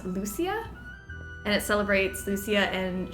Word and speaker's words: Lucia: stage demands my presence and Sweden we pronounce Lucia and it celebrates Lucia